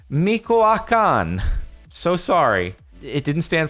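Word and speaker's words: Michoacán: the the Meech standard for me I'm gonna pronounce this so wrong Michoacan so sorry it didn't stand for Mexico into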